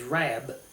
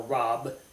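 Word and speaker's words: רַב: As many, the Hebrew word is rab, okay, or rob. I think it's actually pronounced rab.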